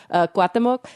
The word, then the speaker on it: Cuauhtémoc: Cuauhtémoc, a city in the west central part of the Mexican state of Chihuahua.